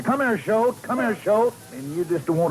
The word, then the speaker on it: Choate: Now, friends, not Choate. That's right, Bob. You don't like that. It's Choate. Spell it. C-H-O-A-T-E.